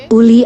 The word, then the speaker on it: Uli: kekaisaran malu lahir mansa Uli menggantikan ayahnya sundiata kata mansa dalam bahasa maningka berarti Raja Uli adalah pengucapan lokal dari Ali Uli memperluas perbatasan Mali